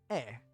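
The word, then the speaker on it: へ: E. The particle represented by he is actually pronounced e instead of he.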